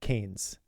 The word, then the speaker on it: Keynes: I I pronounced it the wrong way. That his that person you're talking about is uh Canes.